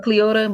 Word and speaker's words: Cleotha: or Cleota, but it's spelled like Cleotha.